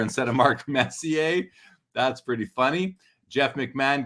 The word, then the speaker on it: Messier: Carl Daly says, I think my biggest mispronunciation was Mark Measure instead of Mark Messier.